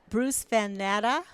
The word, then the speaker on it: Bruce Van Natta: I'm here with Bruce Van Natta. Did I pronounce that right, You did.